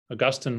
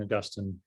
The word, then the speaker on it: Augustine: were actually banned and augustine was or so i say augustine instead of augustine that's how they say it in england that's where i learned the most about him uh augustine was the